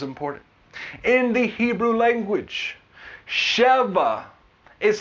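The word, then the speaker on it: שבע: why this is important in the Hebrew language cheva is how we pronounce seven cheva it is spelled Shen B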